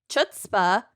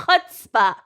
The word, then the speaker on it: chutzpah: I once pronounced the word chutzpah as chutzpah, and the That's 4-year-old that I embarrassing.